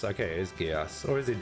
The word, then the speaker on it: Geass: Geass. Okay, it is Geass. Or is it Geass? Is it a soft G or a hard G?